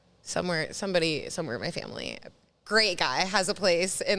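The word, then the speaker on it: Grimaud: my grandma's nephew somewhere somebody somewhere my family great guy has a place in the south of France uh that he let us use in a place called called GMA which is spelled g r i m a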